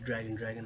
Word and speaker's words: Dragan: The Ronald Reagan, my name Adrian Dragan, like Reagan pronounced.